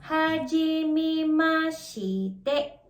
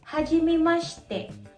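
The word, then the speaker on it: はじめまして: Kung babasahin mo siya, para itong Hajimemashite. Pero actually, pinopronounce ito as Hajimemashite. Hajimemashite. Kung mapapansin nyo, nawala yung letter I. Ang tawag doon ay vowel devoicing.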